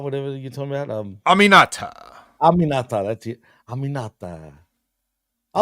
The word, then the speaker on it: Aminata: And how do you pronounce it? Animata, whatever you're talking about? Aminata.